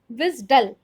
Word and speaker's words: WSDL: ஸோ அப்போ அதை ரிஜிஸ்ட்ரிக்காக யூஸ் பண்ணும்போது யூ can pronounced as எ விஸ்டல்.